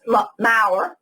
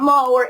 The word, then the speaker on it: Mau: her name is Kate Mau pronounce that right I have been say am mower it's and she has distinctly said it is not mower it is Mau so Kate ma is